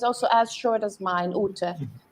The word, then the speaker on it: Ute: Ute can be anything. Ute, Uti, Uti, Ute. Who's a Ute? Yeah. Who's that? What's that? Because the E might be a schwa, or Utina to add